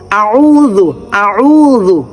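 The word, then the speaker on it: أعوذ: আউজু আউজু আউজু জিহ্বার আগা থেকে উচ্চারণটা হবে আউজু আউজু হচ্ছে নাউ কি ব্যাপার আশা হচ্ছে না কেন শব্দটা আউজু হবে না হবে না হবে একদম সফট নরম হবে এরকম ঠিক আছে খেয়াল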